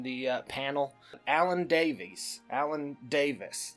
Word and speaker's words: Davies: Alan Davis. It's Davies Davis again. It's spelled Davies. They say Davis.